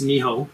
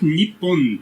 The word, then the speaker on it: Nihon: Like Japan is Nihon. Nihon or Nippon?